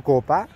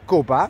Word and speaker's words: Copa: Sí, pronuncié una S de más y me han corregido y agradezco que me corrijan porque de otra forma no se puede arreglar la cosa.